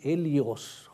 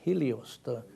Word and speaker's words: Helios: said well you know elias sounds is very similar to elios who is helios we call it helios but the age is silent who is the sun